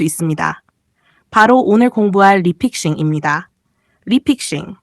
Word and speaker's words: 리픽싱: 리픽싱 영어로는 re픽싱 리픽싱이라고 읽습니다.